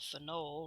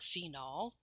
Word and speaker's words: phenol: this one for example for knoll or phenol can be pronounced both ways if you have this